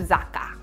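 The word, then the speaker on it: 酒: character will change so even though the second character pronounced sake when it combines together it changes sound into zaka and last but not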